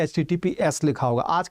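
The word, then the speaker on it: HTTPS: सेट भी आता है एचटीटीपीएस भी आता है एस एसटीटीपी नहीं कहते हैं इसको एचटीटीपीएस कहते हैं एचटीटीपीएस कहेंगे सही उच्चारण यही देखना वेबसाइट में कभी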